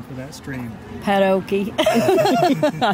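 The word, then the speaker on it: Patoka: Padoke. I said it wrong, but it's no, Padoke. It's Padoke.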